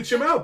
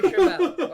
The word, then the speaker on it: Chimel: Tony Chimel.